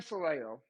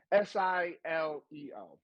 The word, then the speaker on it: Sileo: But according to Dan Saleo, and I don't even give a fuck if that's his pronunciation, but it's Dan Sileo. That's his name.